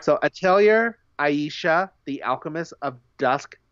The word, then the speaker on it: Atelier: You pronounce the R?